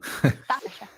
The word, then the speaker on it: Saoirse: Saoirse. Yeah, Saoirse like a nurse.